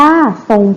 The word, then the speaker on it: ทรง: ทรง ผม นะ คะ ตัว นี้ เป็น คำ ควบ ไม่ แท้ นะ คะ ท่อ รอก พอ รอ มา อยู่ ด้วย กัน จะ ออก เสียง ซอ นะ คะ นัก เรียน ก็ เขียน